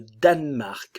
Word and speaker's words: Danemark: d'article Chypre chipriote chipriote le Danemark le E ne s'entend pas danois attention le O